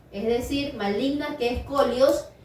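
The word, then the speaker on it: σκολιός: Se pronuncia colios, pero adelante de colios la S.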